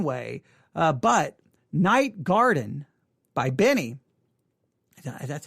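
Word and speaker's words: Benee: to be listening to benny her her name is spelled b-e-n-e-e-b-e-n-e-e so when you say benny it just seems weird um but that is her name all right anything about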